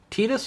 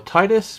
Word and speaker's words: Tidus: Next to him is Tidus or Tidus, people pronounce it differently, from Final Fantasy X.